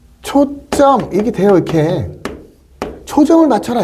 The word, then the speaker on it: 초점: 그러면 우리가 읽을 때 발음은 어떻게 되냐면 분명히 발음은 초점 이게 돼요.